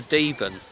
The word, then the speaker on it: Deben: at Woodbridge on the banks of the river deben pronounced it right this time we're doing a little